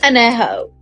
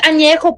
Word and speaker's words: añejo: What the is anejo? It's añejo, puñetas.